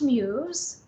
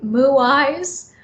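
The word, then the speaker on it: Muise: is muse and um it's actually spelled m-u-i-s-e and it's pronounced muse and i actually love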